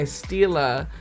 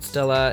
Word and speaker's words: Stila: So then I go in with my Stila liquid eyeshadow. I was corrected last time. I was calling it Stila because it's spelled Stila, and someone was like, it's called Stila, girl.